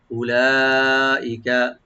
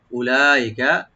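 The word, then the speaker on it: أُولَٰئِكَ: উলাইকা, উতে টান নাই, টানবেন না, উতে লামে টান আছে, এই যে মাদ্দে মুত্তাসিল, 4 আলিফ টানবেন, আর হামজাকে রাইট দিবেন, কাবে কোনো টান নাই, উলাইকা।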